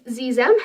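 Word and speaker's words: xexem: the other one is zizem it's spelled x-e-x-e-m um and it's spelled with an X but it's pronounced with like a z sound because you know the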